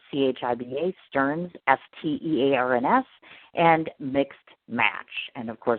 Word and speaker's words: Stearns: And, of course, Chiba, as he said, and that's spelled C-H-I-B-A, and Stearns, S-T-E-A-R-N-S.